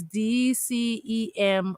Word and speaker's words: D'CEM: yeah in December the same award so it's D cem Awards Deb Classic Entertainment magazine award that is